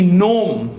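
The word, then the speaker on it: gnome: केवा है नार सु बोला ने नाल पछी नोम नोम is like a magical creature Harry Potter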